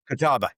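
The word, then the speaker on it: Catawba: Is it Kataba? Kataba.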